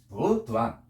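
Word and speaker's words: 补: 보자는 부로 납니다. 해봐. 부. 단자는 해봐. 짧을 단자 두안. 자, 그런데 이 도자도 삼성이고 단자도 삼성이에요. 삼성이 연속될 때는 뒤에 것만 삼성을 놔두고 앞에 것은 이성화돼. 이성화. 그러니까 부두안.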